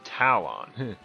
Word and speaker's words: Talon: and his name is Talon which rhymes with Malon the owner of long